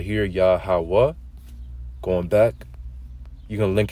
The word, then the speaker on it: Yahweh: So going back, that's how you truly pronounce the name of the Lord, Yahweh.